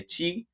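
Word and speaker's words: ち: But this you just pronounce it tsu, and you say ti, you say chi, actually, and si is she.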